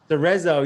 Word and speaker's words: Cerezo: Pronounced right? Cerezo, yeah, Cerezo, yep.